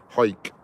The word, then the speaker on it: Howick: I stopped in a place called Hike. Hike it's called. It's spelled Howick, but they call it Hike Up Scotland.